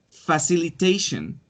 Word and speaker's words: facilitation: Facilitation. Tiene facilitation. 5 sílabas.